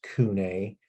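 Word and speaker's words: CVNE: bottles left um it is also owned by Kune and that's how you pronounce that c v n e it looks kind of strange but that's bosk and it's pronounced kunai um but they're a really important real hot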